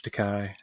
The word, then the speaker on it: Takei: It's like George Takei, George Takai. It's really Takei, though.